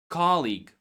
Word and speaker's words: colleague: Now about colleague. Colleague comes from the word league.